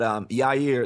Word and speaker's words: Yair: But Yair, that's how you pronounce his first name, Cass?